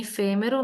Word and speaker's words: efêmero: Em efêmero, nós temos uma proparoxítona, toda proparoxítona é acentuada obrigatoriamente.